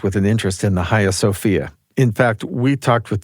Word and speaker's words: Hagia Sophia: So the Hagia Sophia, and this is the Turkish pronunciation of the building, was built by the